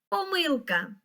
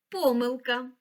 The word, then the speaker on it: помилка: тут зашифровано Так це слово помилка або помилка Пам'ятай що це слово має подвійний наголос А яке слово зашифровано